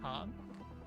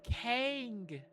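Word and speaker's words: cangue: Kong, how do you pronounce that? Kongu Kang. It's a type of restraint used in Asia. Okay. Uh Wikipedia, can you tell me how? Oh, it's Kang.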